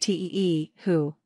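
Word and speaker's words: tihu: dolls in general are called t who pronounced te who and you can combine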